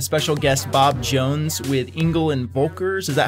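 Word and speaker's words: Engel & Völkers: We've got a special guest, Bob Jones with Engel and Volkers. Is that how you pronounce it?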